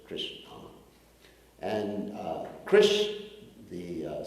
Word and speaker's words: Krishna: Like you have Krishna, 2 syllables, Krishna.